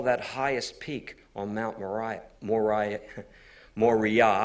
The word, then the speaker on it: Moriah: you have Mount actually it's not pronounced mariah's pronounced mori yah and then there was the third Hill Mount